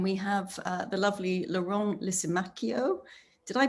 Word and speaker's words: Lisimachio: new york and we have the lovely laurent lisimacchio did i pronounce that right lauren you did thank